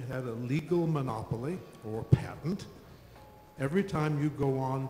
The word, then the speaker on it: patent: in this case called a patent or patent as it's sometimes pronounced in England where I live what would you think